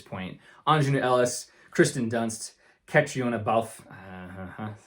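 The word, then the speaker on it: Caitríona Balfe: Aunjanue Ellis, Kristen Dunst, Catriona Balfe, that's how you say her name, Ariana DeBose, and Ruth Negga for passing.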